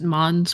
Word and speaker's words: Mainz: Mains. I see it. I see Mains. Yeah. But Yeah, it took me a second to find because it's pronounced Mons, but How do you spell Oh.